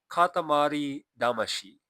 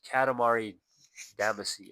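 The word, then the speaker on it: Katamari Damacy: It's called Katamari Damashi in Japanese. I think it's pronounced Katamari Damasi or however they call it.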